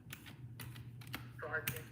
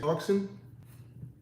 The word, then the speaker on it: Sartin: Sartin, Sartin. You said Clarkson? Sartin. Carson. Gotcha. Okay. Yeah. Sartin. Carson, as in CARCON. Just spell it Martin, but the M is the N. Hold up. The M is an S.